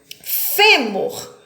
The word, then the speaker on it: fêmur: forte elas são acentuadas fêmur fêmur a sílaba tônica é o fé nós temos aqui uma